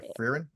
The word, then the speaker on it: Frieren: Frieren? Yeah, Frieren.